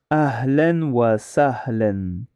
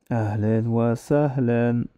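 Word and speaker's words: أهلاً وسهلاً: Alors, ça se prononce Ahlen wa sahlen. Mais ça s'écrit Ahla wa sahla.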